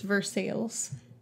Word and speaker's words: Versailles: mean it means that we do have a place in Ohio that is verses and it is spelled like Versa the Treaty of Versailles